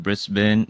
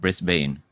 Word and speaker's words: Brisbane: It's pronounced Brisbane. It's not Brisbane.